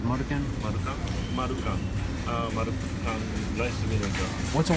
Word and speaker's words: Marukan: How do you say it's Marukan?